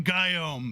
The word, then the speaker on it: Guillaume: It's spelled like this. What a man. But like pronounce it like God, like G-Y-U, G-Y, G-U-Y. Good lord, Guillaume, like Guillaume. Guillaume.